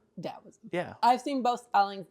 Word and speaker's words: Dao: should just be spelled Dow yeah I've seen both spellings but I've only ever heard the one pronunciation I think the trick is that it's harder than D but softer than T okay fair that in